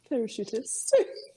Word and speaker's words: parachutist: Parachutist. Yeah. It has an accent on the I.